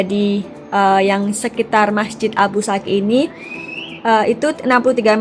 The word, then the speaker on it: Abu Sakhi: gitu Nah itu ya Abu saksi k tulisannya kayak gitu ke dalam Uzbekistan tapi kita membacanya Abu Saki nah ini dia masjidnya